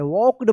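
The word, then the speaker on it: walked: A small bag एंड वॉक्ड यहां पर देखिए एल है तो यहां पर एल जो है ना साइलेंट रहेगा।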